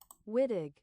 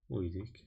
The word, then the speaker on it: Wittig: Wittig. Wittig, sí, está bien. Para los británicos, Wittig. Y para los gringos, Wittig.